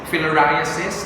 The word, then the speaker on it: filariasis: almost done with paraguas i hope you pronounce it correctly not isis filariasis no trypanosomiasis babysiosis okay